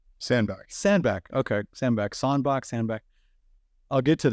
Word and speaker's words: Sandbach: Sandbach.